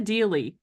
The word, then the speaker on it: Deally: guest for you Melissa Dey rhymes with really so that's how you